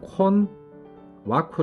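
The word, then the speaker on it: 困惑: 색 줍니다 친절이 되겠고 신앙 콘 와 쿠 라고 발음합니다 곤혹스럽다 할 때 곤혹 이라는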